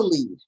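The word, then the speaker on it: lede: So what's a lead? And no, I did not misspell it. L-E-D-E.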